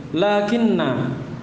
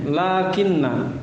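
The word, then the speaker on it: لكنّ: Lakinna. Apa maknanya? Atau bagaimana cara bacanya lakinna bi tasydidin nun? Ditasydid nunnya. Lakinna. Walaupun bisa juga diringankan ya. Bisa juga dibaca lakin, tapi kebanyakannya tidak beramal atau bahkan wajib tidak beramal kalau diringankan.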